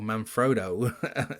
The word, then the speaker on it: Manfrotto: If I could choose tripods any time of the day, it would always be Manfrotto, or Manfrotto as Americans say it.